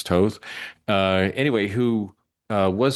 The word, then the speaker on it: Toth: There was a a comic artist named Alex Toth, if I'm pronouncing his name correctly. That's not Toth, it's Toth.